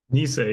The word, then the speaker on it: Nisei: I'm not even sure if I'm going to pronounce this right. Nisei? Nisei, yeah.